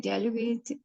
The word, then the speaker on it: dialogue: The dialogue until next week.